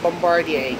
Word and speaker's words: Bombardier: The bomb the bombadia. Yes. Bombardier. Yes, that's correct. I'll pronounce it the American way.